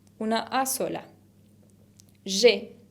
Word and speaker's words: j'ai: Y digo j'ai, porque acuérdense que la A con I se pronuncia E, como una E abierta.